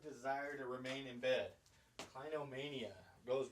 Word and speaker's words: clinomania: with that this is number five guys uh clinomania or clinomania uh that's so it's spelled like this c l i n o m a n i a kleino mania so basically what that is right along the